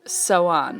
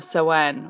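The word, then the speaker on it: Samhain: Gaelic Irish as well celebration and it's called so on or so on or so on what everybody call it that's how you pronounce that it's spelled s am h AI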